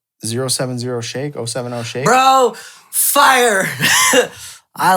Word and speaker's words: 070 Shake: It's 070 Shake.